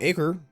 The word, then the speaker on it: Acre: Accra they we call acre but it's it's there's different ways of pronounce that acre is like the Crusader name the latin name for but people pronounce it aqua sometimes and so he